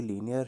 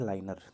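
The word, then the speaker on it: linear: देखिए, कुछ को यहाँ पर जो इसका प्रोनाउंसिएशन है उसमें दिक्कत आ सकती है, क्योंकि लीनियर है, इसको कई बोलते हैं लाइनर, तो लाइनर नहीं है, लीनियर होगा।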